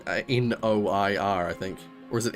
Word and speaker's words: noir: And it's spelled like that, like you pronounce it that way because you're basically just pronouncing the vowels. Noir. Noir. With the I being an ah sound.